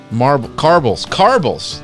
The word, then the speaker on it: Carbles: Carbles. Okay, pronounced like marbles.